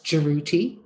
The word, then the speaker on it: Jeruti: And the female's name was Jeruti. And if you want to know how to pronounce it, say the girl's name, Trudy. Just start it with a J, Trudy.